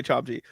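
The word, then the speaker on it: Chomche: Chomchi. Okay, I was going to say Chomchi.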